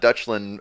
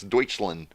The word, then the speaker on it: Deutschland: i do speak german it's not dutchlin uh it's uh duchessland you pronounce it deutsch deutsch that's right i remember i remember as soon as i read that it's deutschland deutschland right or is it